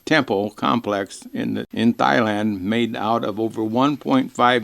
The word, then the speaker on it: Thailand: round trip ticket to Thailand how do you pronounce it Thailand there there's an AG in there and I